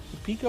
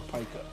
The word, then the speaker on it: pica: It's P-I-C-A. Yeah, I know. I think it's pronounced pica. I mean, Pikachu says Pika Pika. So. Yeah. Well, I've always heard it pronounced pica for the medical condition.